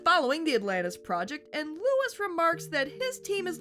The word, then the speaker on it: Louis: old chum of his, Louis, and yeah, they go back and forth on the French and English pronunciations. Robert isn't Robert, except for one slip-up later in the episode, and Louis isn't Louis.